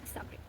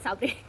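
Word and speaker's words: sabre: Starring alopecia होता है, which is known as इनकूप डी साब्रे। I know it's नॉट साब्रे साब्रे तो ऐसे इसको नहीं प्रोनाउंस, सैबर।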